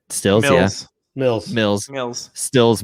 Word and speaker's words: Stills: over stills did i say his name right stills yes mills mills mills stills mills kenny stills